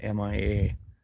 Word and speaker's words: Mia: Yeah, my dog's name was MIA, and I pronounced it Mia.